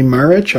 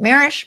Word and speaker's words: Marrich: I have a Southern accent, so I pronounce it Marrich. My brother does not have a Southern accent. He pronounces it like you, so you can't be wrong.